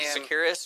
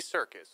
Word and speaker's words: Serkis: Andy Sekiris or what's his name? Andy Sekiris? Well, he's not saying it right. I can say it right. Well, he played Gollum, and he played it's Andy something. Andy Serkis. Serkis. Yeah. That's right.